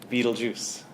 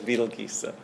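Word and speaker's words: Betelgeuse: a star called what we know as beetle geese some people call it beetlejuice proper pronunciation is betelgesa now this star if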